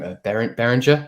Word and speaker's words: Behringer: Like I never know how to pronounce the name. Behringer, is it?